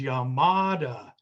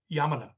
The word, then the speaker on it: Yamada: yamada which we always being being americans we would we would call we would say his name is yamada because we put stresses on syllables but if you listen to him say his name yamana it's very flat uh so ichiko is